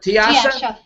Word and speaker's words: Tiyasa: you pronounce Tiasha that Tiasha Tiasha Tiasha like uh my name was swad in but sometimes gur used to call mewad sometimes the S pronounced sh in Bengali so Tasha Heron has